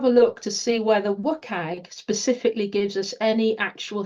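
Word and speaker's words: WCAG: content accessibility guidelines or as we tend to pronounce it in the UK wag and um they're like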